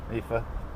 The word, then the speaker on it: IFA: Another IFA Epha. They pronounce it differently. We spell it out as letters. They say it as a word.